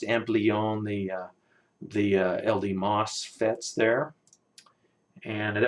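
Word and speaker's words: Ampleon: It's cool to see that RF deck here with the, I believe it's pronounced Amplion, the LDMOS FETs there.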